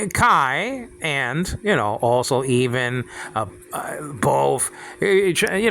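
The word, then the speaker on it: καί: Kai. Nowadays pronounced K in modern Greek.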